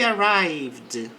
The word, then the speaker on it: arrived: They arrived late. Então eles chegaram tarde. Não pronuncie o e aqui.